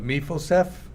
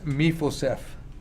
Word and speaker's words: Mephibosheth: So if I say it incorrectly, my apologies, but Mephibosheth is, I think, the way it's pronounced.